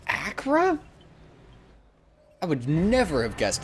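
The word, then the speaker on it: Acre: you're ready to begin your mission Acra it's pronounced Acra I would never have guessed that I was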